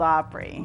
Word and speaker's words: Opry: to Nashville and play at the Grand old Opry course yes is that how it's pronounced Opry the Opry yes so what happens